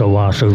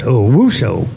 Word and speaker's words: Owasso: Yeah, OWO for Michigan, and this Owasso's with an A. Huh. And I've had some rodeo announcers didn't know how to pronounce Owasso, Michigan. They pronounced it as Owusso.